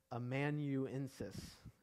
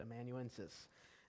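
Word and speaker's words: amanuensis: known as a um i always say this wrong but immanuensis is how you say it emanuensis and uh so some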